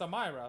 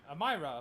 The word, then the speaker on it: Amyra: how to say name yeah it's amyra what's wrong amyra amyra what's wrong that's how you say it I don't know that's